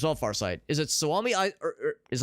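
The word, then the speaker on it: Suomi: Far Side is it soami I is I pronounce it soomi I saw there was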